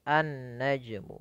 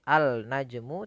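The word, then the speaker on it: النجم: langsung di sebelahnya ya maka menjadi an-najmu bukan lagi Al najmu tapi an najmu baik teman-teman alhamdulillah kita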